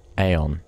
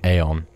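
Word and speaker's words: Aeion: it is still your best chance at survival aeon that's how you pronounce it aeon do not hesitate to destroy an enemy whenever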